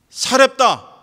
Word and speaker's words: 사렙다: 그러나 하나님은 이스라엘에 있는 과부 어떠한 사람에게도 이 엘리야를 보내지 아니하시고 시돈 땅에 있는 사렙다 과부에게만 보내셨다 했습니다. 구약에서는 사르밧이라고 나오는데 히브리어로 사르밧이고요, 그것을 헬라어로 소리나는 대로 발음했을 때 사렙다가 됩니다.